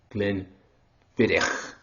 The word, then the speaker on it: Glenfiddich: It is Glenfiddich. Most people pronounce it wrong, and apparently I did yesterday.